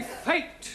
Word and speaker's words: fate: Let us take the word F-A-T. Now, that has a flat A sound. Good. But if we add an E to the end of fat, then what do we have? Fatty. No, Giovanni, fate.